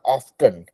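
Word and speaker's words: often: जैसे की आपने कहा ऑफ्टन ऑफ्टन को हम लोग प्रोनाउंस करते ऑन ऑन टी छुप जाता है ठीक है तो यू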